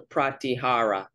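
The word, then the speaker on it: pratyāhāra: It's called the Pratyahara. That's how you say it, Pratyahara, like how the robotic voice says it.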